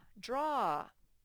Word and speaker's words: draw: word for a minute the aw makes the ah sound like the one on the ostrich card sort of sounds like a short o ah here we